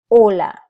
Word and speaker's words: hola: not have a sound so when trying to create someone you would say hola si imagine that is not even there hola the next sound is